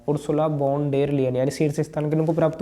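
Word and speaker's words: Ursula von der Leyen: अर्सुला वॉन डेर लेयन, यूरोपीय जो commission है उसकी अध्यक्ष है ये, उर्सुला वॉन डेर लेयन। क्योंकि प्रोनाउंसिएशन थोड़ा अलग है इसलिए थोड़ा खैर आप पढ़ लेंगे इसको।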